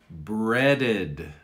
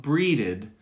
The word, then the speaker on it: breaded: the game early and finally breaded not breeded breaded he breaded the chicken